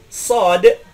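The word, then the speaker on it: ص: Sod itu bukan huruf shin, ya. Hati-hati. Sod dalam bahasa Indonesia seperti mengucapkan salat, tidak boleh diucapkan shin, sholah. Misalkan ada orang mengucapkan hayya 'ala sholah, itu salah.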